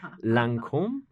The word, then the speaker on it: Lancôme: and I'm going to say it wrong again, Lancome.